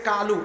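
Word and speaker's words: قُلْ: তাহলে এই যে আছে এটা কোরআনের আয়াত এটা কলু সে বলতেছে কালু তারপর শব্দ হলো হাজা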